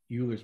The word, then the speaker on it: Euler: You may hear me call it Euler's method because I learned about it before I ever had to say it. But it's Euler's method is the correct pronunciation.